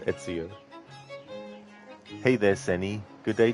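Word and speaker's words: Ezio: And he actually mispronounces Etsio on uh on mispronounces it on purpose. He's like Enzo instead of Etsio.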